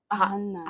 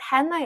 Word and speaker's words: Hanna: Hanna. Hanna. It's not. It's like. Hanna. Yeah, but not Hannah. It's like Hannah is H. Hanna. In between G and H, there is a sound that we have.